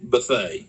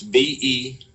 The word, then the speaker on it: Bethea: that that's b-e-t-h-e-a okay Buffet most people pronounce it Bethea that might be the correct pronunciation but whenever you're from uh North Florida South Georgia you know but they and that's how the family pronounces it so but uh Buffet